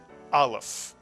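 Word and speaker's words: א: The Aleph and the Ayin are both silent letters.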